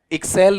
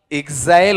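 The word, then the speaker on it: exhale: लेकिन इसको काफी लोग क्या बोल रहे थे आपका, एक्सेल। एक्सेल नहीं होता है, ये बताओ क्या होगा, एक्सेल होगा या फिर आपका एक्साइल होगा, एक्साइल होगा, एक्सेल नहीं होता है, ठीक है।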